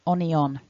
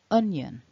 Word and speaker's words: onion: First of all, then, we can see that there are two syllables. The dot in the middle divides them up, so un and yun. And the blue mark top left tells us that our first syllable is the stressed, the strong syllable.